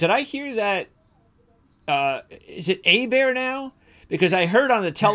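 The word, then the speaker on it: Åberg: I think he wants Oberg. Oh, he wants Oberg. I think Oberg is.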